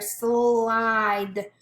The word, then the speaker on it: slide: Now here we hear slide. We don't hear that E, it's a silent E.